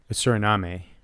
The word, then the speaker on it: Suriname: Suriname, I think, is the official pronunciation.